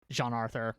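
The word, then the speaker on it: GianArthur: iterations uh alongside alongside Roman Gian Arthur uh Jean Arthur, sorry that's how you pronounce his last name.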